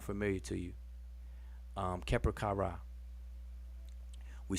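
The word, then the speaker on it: Kheperkare: Keper Kara. We spell it like this. People pronounce it Keper Kare. I like to stay more true to the Ra pronunciation instead of Ray. So Keper Kara.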